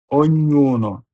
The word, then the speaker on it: ognuno: GNE, NIE, RE, RE, spegnere, ogni, OGNI, ogni, ognuno, OGNUNO, ognuno. যখন এসএচই এর পরে ই অথবা এ থাকে তখন উচ্চারণ হবে তালিবর্ষ।